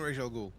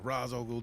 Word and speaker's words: Ra's al Ghul: I blame Ra's al I blame Ra's al Ghul, or Ra's al Ghul, depending on which pronunciation you want to go with.